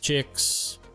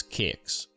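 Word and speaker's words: Qix: came across a game called, whatever this is, Chicks. I actually looked it up, and the true pronunciation is Kicks.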